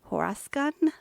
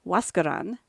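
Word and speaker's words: Huascarán: In 1904, she set her sights on Mount Huascan. What? Nope, I totally pronounced that wrong.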